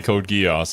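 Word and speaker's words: Code Geass: okay I'm being GID by silver I say code geese I see you say code geese I'm pretty sure the majority of people say code GEOS and that's how you should pronounce it well people say under Hunter and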